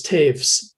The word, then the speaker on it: Taves: Rose Party, and Travis Taves, whose name looks like toes, but it's one of those German names that's pronounced not quite the same as it appears.